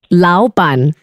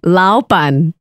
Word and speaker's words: 老板: How you say boss here in Singapore is 老板. 老板. Yeah, very close. One more time. 老板. 老板. Yes! Wonderful. She's a legit 老板.